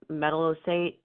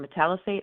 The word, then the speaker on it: metallicate: that you have the metallocate um or metallicate I'm sorry I should pronounce it correctly is that the right